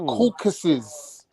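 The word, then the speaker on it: Caucasus: yeah but you're mispronouncing it's not CAU it's the caucuses no theau it's not Asian there's no Asian in Caucasian the caucuses is a mountain region in Georgia we know this just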